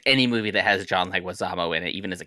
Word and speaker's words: Leguizamo: Leguizamo, yeah. Leguizamo, okay.